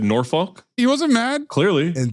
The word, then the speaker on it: Norfolk: It's pronounced... Norfolk, not Norfolk. I was off. It is Norfolk. Or fuck yourself, nobody cares. Or Norfolk, because he wrote NAW-FUK.